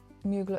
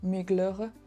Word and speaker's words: Mugler: Casey Kadwalader over at Mugler Muer that's a French brand and I should learn to pronounce it properly so Migler over at Mugler and